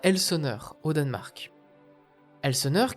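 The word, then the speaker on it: Helsingør: Elsenur qui en danois se prononce Helsingur qui viendrait du vieux Naoi signifiant le rivage d'elsing.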